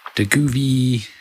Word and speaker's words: Govee: Now these are the Govee, that's how you say it, Govee RGB Basics.